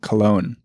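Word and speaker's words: Köln: And for people who can't tell, Joseph is saying Cologne in the actual German correct way.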